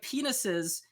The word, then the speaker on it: penises: which first of all like like penises the emphasis is on the first syllable right um she puts she's putting the downbeat on the last syllable she it's penis says the way she say it which is which is not how you say that word and this is the